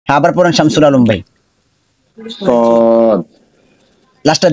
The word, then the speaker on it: ص: صاد এই যে এই হরফটা এখানে মোটা হবে, ঠিক আছে? এই যে লেখা আছে এখানে, এই হরফটা উচ্চারণে মোটা হবে, চড়ুই পাখির মতো একটা আওয়াজ ক্রিয়েট করবে এখানে।